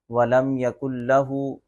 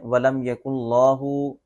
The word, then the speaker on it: وَلَمْ يَكُنْ لَهُ: غلطیاں ہو جاتی ہیں۔ ایک سورۃ اخلاص میں وَلَمْ يَكُنْ لَهُ کو کیا پڑھتے ہیں؟ وَلَمْ يَكُنْ اللَّهُ، اس طرح پڑھ دیتے ہیں، تو یہ درست نہیں ہے۔ اصل تلفظ کیا ہے؟ وَلَمْ يَكُنْ لَهُ۔ شاید لوگ اس لام کو لفظ اللہ کا لام سمجھ کے موٹا پڑھ دیتے ہیں، ایک اس کو تھوڑا سا کھینچ کے پڑھتے ہیں، تو یہ درست نہیں۔